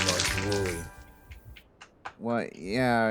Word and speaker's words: Woolley: That's the name, Monty Woolley. Well, yeah, in Tennessee we pronounce it Woodley.